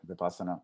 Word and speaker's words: Vipassana: And so Vipassana, is that how you say it? Yeah, Vipassana. Vipassana.